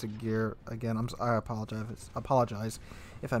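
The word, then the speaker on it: Ägir: Now, in this Agir match you're watching right now, or Agar, I'm pretty sure it's Agir.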